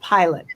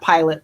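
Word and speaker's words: Pilat: last name is spelled pilot p i l a t not not pilot like the airplane okay and you can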